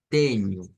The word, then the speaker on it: tenho: Nuevamente, NH se va a pronunciar como ñ realmente. Teño.